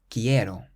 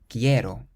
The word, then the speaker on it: quiero: Quiero. Quiero. So it ends in a vowel, meaning we place the stress on the syllable before last.